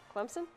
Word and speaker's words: Clemson: who was actually from clemson and he told me i was saying it wrong he said that he pronounced it clemson with a pete i mean you can't